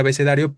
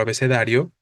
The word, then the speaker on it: abecedario: río eh la palabra abecedario para empezar ni siquiera tiene la sílaba tónica en las vocales en esas dos vocales que que estarían formando en este caso el diptongo la sílaba tónica es la penúltima no es palabra grave entonces no hay razón